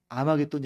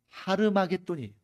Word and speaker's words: 하르마게돈: 정확하게 발음하면 아마돈이 아니라 히브리어식으로 발음하면 하르마게돈이 하르 무기도에 합성합니다.